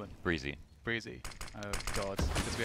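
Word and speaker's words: Brehze: that we've ever seen between Cirque, Ethan, and Breezy. So I think it's definitely, that's how it's pronounced.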